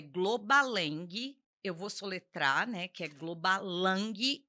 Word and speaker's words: Globalang: A pronúncia é Globaleng I L, né?